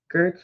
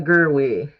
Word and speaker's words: Gerwig: Gertch, is it how you say her name? Greta Gerwig.